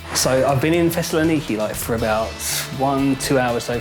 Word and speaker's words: Thessaloniki: Which one is it? Thessaloniki. It is Thessaloniki. It is I've been saying Thessaloniki. it right, and everyone else is saying it wrong.